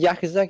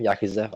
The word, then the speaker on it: Yakuza: Have you ever played any of the Yakuza games? I never played them. Yakuza. Yakuza. Yakuza. I Jakazer is the Yakuza. Yakuza. That's how they say it in Japan.